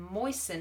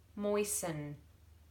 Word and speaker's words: moisten: take that washcloth and moisten it with water can't hear that tea can you moisten but it's based on the word moist so if you remember